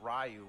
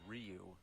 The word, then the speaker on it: Ryu: like in Street Fighter we didn't know rayu was actually Ryu Blanca some people say